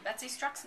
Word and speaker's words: Betsy Struxness: say your name darling you said it correctly Betsy strus see ladies and gentlemen that's what her name